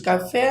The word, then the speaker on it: café: Você fechou o som da palavra café, e café tem um som aberto, né?